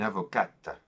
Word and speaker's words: avocate: When we add the E at the end, it forms a full syllable, and then we pronounce it. We say une avocate, une avocate.